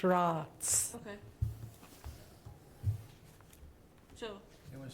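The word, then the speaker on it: Roatz: And it's pronounced Ross.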